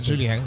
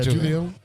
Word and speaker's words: Julien: I know I'm saying his name wrong, but No, that's right, Julien. Yeah, Julien.